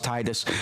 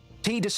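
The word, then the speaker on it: Tidus: We already get the idea that that T Sorry, I'm going to do that a lot. Tedus. Titus. Titus is the name. It's the pronunciation that makes sense, but it's Tedus.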